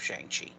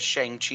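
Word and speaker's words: Shang-Chi: chi stuff by the way they've changed the pronunciation of shanxi which which i do not like so i appreciate that we're leaving it at shang chi here oh uh because it's always been shang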